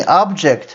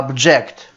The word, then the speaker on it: object: Обратите внимание, это глагол, поэтому ударение будет не object, а object.